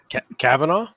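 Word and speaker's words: Kavanaugh: Court pick um first off how do you pronounce his last name Cavanaugh Cavanaugh okay I was in a butchery I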